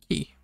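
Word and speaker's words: き: The next one looks like a key, and is pronounced the same way. Ki.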